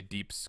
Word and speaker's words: DPS: Yeah, because it's DPS, so you say deeps because it's kind of like the I'm gonna use phonetic pronunciation.